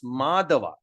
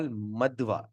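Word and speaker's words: Madhva: madwa this is madwa you see the a with with the dash on top we pronounce madava and this is without without Dash we call madwa okay so madava Akia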